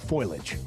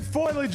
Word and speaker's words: foliage: time for the fall foilage. The fall what? Foliage. Okay. Is it foliage or foliage? It's foliage. Foliage. It's three syllables.